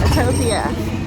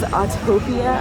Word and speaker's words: Autopia: Okay, Autopia, done.